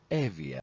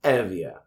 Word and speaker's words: Evia: So in English yubia yubia in Greek Evia Evia the five dactoy or fingers uh were usually regarded as identical to the curates.